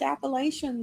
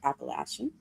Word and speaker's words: Appalachian: So, actually, I found some of those old Appalachian stories. Oh, sorry, Appalachian. Mm-hmm. I'm going to pronounce it correctly.